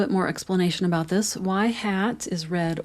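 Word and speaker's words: ŷ: This is y hat is how you pronounce that.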